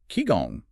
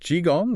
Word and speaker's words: qigong: Qigong. Pronounced Qigong, right?